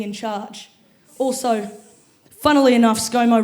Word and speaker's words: ScoMo: Also, funnily enough, ScoMo rhymes with mofo.